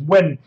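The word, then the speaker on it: Nguyen: a traction new game it's actually pronounced win so when Vaughn win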